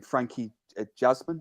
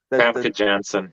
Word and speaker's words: Famke Janssen: Frankie Jasmine or Jasmine or whatever how you pronounce the name. The Famke Janssen.